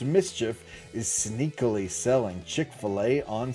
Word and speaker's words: MSCHF: MSCHF, pronounced mischief, is sneakily selling Chick-fil-A on Sundays.